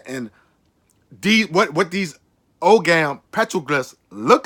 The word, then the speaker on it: Ogam: And what the Ogam, and something is pronounced Ugam too, or Ogam. I prefer to say Ogam.